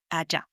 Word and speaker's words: allá: And these two words are allí, spelled A-L-L-I with an accent on the I, or allá, spelled A-L-L-A with accent on the last A, allá.